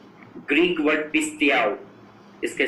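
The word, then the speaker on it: πιστεύω: Greek word पिस्तियाओ, इसके spelling लिखिए PISTEUO. पिस्तियाओ, PISTEUO.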